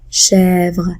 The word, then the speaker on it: chèvre: est morte la chèvre remarquez bien comment je prononce le mot chèvre chèvre c'est un écrit ouvert ça va s'écrire avec un accent grave qui s'écrit de cette